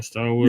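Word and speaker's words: Swalwell: Starwell.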